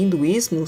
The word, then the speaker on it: hinduísmo: as palavras hindu e hinduísmo São escritas com h e como na língua portuguesa essa letra não tem valor fonético ela não é pronunciada para entender melhor a